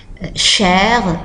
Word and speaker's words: cher: Cher, cher, cher, cher. Remarquez que ça se prononce de la même façon entre le masculin singulier, le masculin pluriel, le féminin singulier, le féminin pluriel.